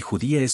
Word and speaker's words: judía: la última sílaba y judía judia acento en la i caso inexplicable pero real